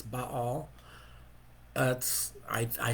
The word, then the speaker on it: Baal: one of those things i grew up hearing baal and even though intellectually i know and i've heard you know the scholars will tell you it's but all that's i i say